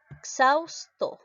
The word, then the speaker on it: exhausto: si se escribe entonces cuando la equis está el medio entre dos vocales está x siempre se va a ir a la segunda vocal cuando lo llegó así la aviar siempre se va a la segunda vocal por lo tanto mi pronunciación cómo sería mi pronunciación ya le quitó la aumentó la h cómo sería exhausto de esta manera y xaus todo ya la equis se